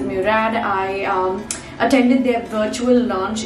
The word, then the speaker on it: Murad: character that's from murad i tend to call it murad sometimes because that's just the usual pronunciation like sahel gurad but i realized that the brand calls it murad i attended their virtual